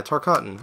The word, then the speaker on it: Tarkatan: Or I don't know how you pronounce it. Tarkatan. Yeah, Tarkatan. Okay, I'm right.